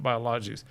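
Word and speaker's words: AoBiologix: And biologics is spelled with an X at the end, not CS. So it's biologics with an X. So AoBiologics stands for Antioxidant Biologics.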